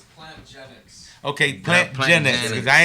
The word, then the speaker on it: Plantgenix: Is it genetics or genetics? It's plant genetics.